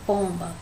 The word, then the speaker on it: pomba: A palavra pomba, se a gente for pronunciar, a sílaba mais forte seria o pom, né? Pomba. Então, como a primeira sílaba aí no caso, a penúltima sílaba é a tônica, ó, a última é a ba e pom é a penúltima.